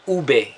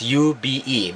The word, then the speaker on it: ube: It's called ube in our country. It's ube, but it's pronounced as ube.